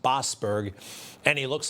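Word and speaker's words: Boasberg: It's pronounced Bosberg.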